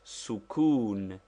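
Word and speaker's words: سكون: What is the use of sukun pronounced sukun? That is with the Italian u.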